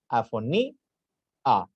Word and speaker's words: afonía: Afoní, a. Se pronuncia separado.